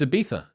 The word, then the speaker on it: Ibiza: You can't say Ibiza? It's Ibiza. Is it a TH?